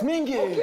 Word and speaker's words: Mingi: My name is Mingi.